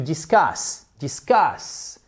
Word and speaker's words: discuss: et donc débattre discuter c'est to discuss aussi la accentuation sur la seconde syllabe.